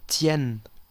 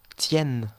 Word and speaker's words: tient: Y recordamos que la ENT, ¿cómo se pronuncia? E, E. Yo digo, il tient, tient, ¿ok? No puedo decir il tienne, ¿ok? Incorrecto, il tient. Elle tient.